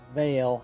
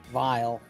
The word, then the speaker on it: Vile: And it's one of the things why I always pronounce it as Vale instead of Vile is because of that.